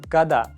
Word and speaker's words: когда: Let's do it tommorow" That's what I always tell my friends The word "когда" is pronounced like "када" For example: — When will my favorite series' last season be out?